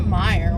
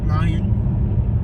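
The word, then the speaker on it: Meijer: Please don't mispronounce it. It's a Mayer. great store. Myers. Mayor. Look at the pronunciation. Mayer. That's how I'm saying cute. Mayer. Myers. Mayors. Myers. Mayer. Like for Mayer. No, because that's spelled like Myers.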